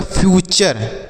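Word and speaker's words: future: उसी तरीके से यफ से पढ़ेंगे फ, यू का उच्चारण यू होगा, और टी यू आर ई को पढ़ेंगे चर, तो लिखा गया है फ्यूचर।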